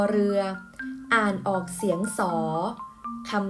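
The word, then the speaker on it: ศรี: ศาลา ควบ กับ ร เรือ อ่าน ออก เสียง สส ธรรม นี้ มี หลาย คำ นะ คะ คุณ ครู จะ ยก ตัว อย่าง ให้ นัก เรียน ดู จะ ทำ เช่น คำ ว่า สี อ่าน ว่า สี โศก เศร้า อ่าน ว่า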